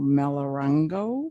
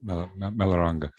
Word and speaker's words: Melaranga: In 2015, we escorted Norm Anderson, Joe Bonacy, Johnny Hatfield, and I apologize if I mispronounce this one, Al Melarango. Melaranga. Okay, thank you.